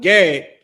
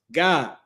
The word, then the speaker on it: Gad: The tribe of Gad, their name is pronounced God, right? Or how you would say Gad or God.